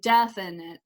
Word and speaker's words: definite: course um okay and of those three syllables when i say it kind of over and over again definite definite i feel like my first syllable is the one with the most power in it and i like to